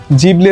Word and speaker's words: Ghibli: শুরুতে অনেকের মতে আমারও প্রশ্ন জেগেছিল যে উচ্চারণটি কি ঘিবলি নাকি জিবলি? জাপানে এটাকে জিবলি বলা হয়। তবে পশ্চিমা দেশে ঘিবলি উচ্চারণ করা হয় অনেক ক্ষেত্রেই।